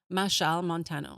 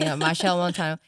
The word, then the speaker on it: Machel Montano: Machel Montano. Okay, because in my head I would say Machel or something. Machel Montano.